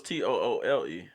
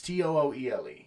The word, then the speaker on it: Tooele: I thought it was Toole. It's Tooele. If I'm. Yeah, no, you're right. Tooele. Yeah. Am I? Yeah, so it's Tooele.